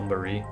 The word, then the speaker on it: Mari: And it's really weird to say Mari because that's how they pronounce it, but to me it's still Marie.